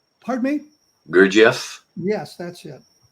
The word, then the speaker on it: Gurdjieff: The one book I couldn't pronounce. Gurdjieff? Pardon me? Gurdjieff? Yes, that's it. Gurdjieff, An Introduction to His Life and Ideas.